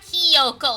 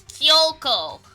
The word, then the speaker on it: Kyoko: Kina Koko and myself it's not Koko it's kioko we waited there for